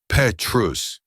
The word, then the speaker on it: Petrus: She pronounced it correctly. Petrus. The S silent, the vowels pure.